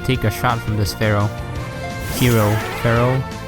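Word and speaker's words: Fearow: a shot from this Pharaoh hero Pharaoh how do you pronounce it I think it's fear o like it's supposed to be scary fear not Pharaoh I don't know it's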